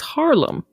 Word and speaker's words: Harlem: any details about it it's Harlem it's Harlem Emily so it was originally called new Harum is it like two A's yes two A's you got it har